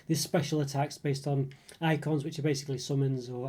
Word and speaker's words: Eikon: There's special attacks based on icons, which are basically summons or eidolons, whatever you say. The icons are spelled like EIKON.